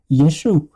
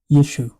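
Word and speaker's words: ישו: This is the third episode called Yeshu the divine code of the Messiah.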